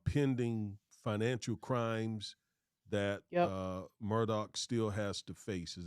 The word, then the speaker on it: Murdaugh: this the name uh it's spelled m-u-r-d-a-u-g-h you've been seeing Murdoch I've been sharing murdal which one is it is it is it properly pronounced Murdoch I read in a news article that is pronounced as murdoc but okay all right